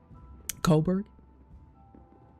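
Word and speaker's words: Kolberg: uh I'm I'm stuck Colberg like coal is in Coal uh where we're missing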